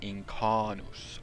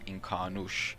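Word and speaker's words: Incánus: Okay, so now to the real juicy and more speculative part of the video, is where we have Incarnus or Incarnush. There were two separate pronunciations in Unfinished Tales for this, and this is a name that was given in the south.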